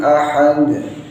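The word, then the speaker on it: أَحَد: Ahad ini haknya harus dibaca bersih. Makhraj atau tempat keluarnya huruf ha ialah pada tengah tenggorokan tanpa ada gesekan. Ahad nggak boleh. Ahad kurang tepat. Ahad bersih haknya. Kemudian dal di sini harus ada qalqalahnya, tidak pula terlalu tebal. Ahad bukan, tapi ahad.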